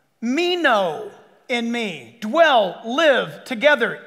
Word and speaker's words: meno: abide is the word meno it's a fun word it just it's and it's spelled like it sounds me no m-e-n-o what does it mean